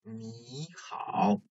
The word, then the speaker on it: 你好: If you read this first syllable, 你 alone, it is a third tone syllable, 你, but as you hear, it is read as 你好, so there's a like, change in tones, okay?